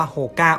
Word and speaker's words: Hoka: วัน ที่ ประวัติ ของ โฮก้า หรือ ว่า โฮ 9 วัน ๆ ของ ใคร หลาย ๆ คน นะ ครับ จริง ๆ แล้ว อ้ะ มัน ออก เสียง ว่า โฮก้า โอน ให้ โอเล่ ครับ มัน มี ต้น